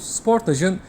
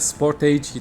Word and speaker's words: Sportage: Bu arada isme takılanlar için Kia Sportage değil, Kia Sportaj diye okunuyor. Koreli markada bir süre çalıştım. Korelilerin de telaffuz şekli böyle. Özellikle Avrupa pazarında da sportaj, İngiltere pazarında sportaj olarak adlandırılıyor.